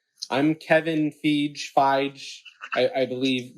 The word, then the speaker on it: Feige: Say I believe I'm going to mispronounce his name. I'm Kevin Feige. I believe it's Feige.